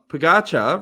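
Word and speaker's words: Pogačar: John Pagatcha rhymes with Ficasha.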